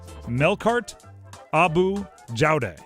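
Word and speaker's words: Melkart Abou Jaoude: Melkart Abu Jaude is how you pronounce that.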